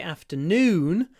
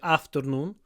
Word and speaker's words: afternoon: it's worth mentioning that when we say afternoon the stress is on noon very often people say afternoon in the afternoon with